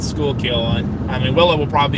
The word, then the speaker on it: Schuylkill: That name, that's how you pronounce it, Schuylkill.